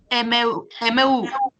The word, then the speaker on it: émeus: Émeu. Eh oui, alors, écoute, j'émeu. J'émeu. Oui, Nous émeu. mais non, ça s'écrit E-M-E-U-S, mais Oui. ça se prononce émeu.